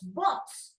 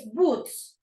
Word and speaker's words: boots: and then you change when you said my my boots Bots you know it's boots okay boots very good and